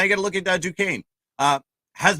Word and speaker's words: Duquesne: I'm going to go with Duquesne or Duquesne or Duquesne, however you want to say it. It is Duquesne pronunciation there.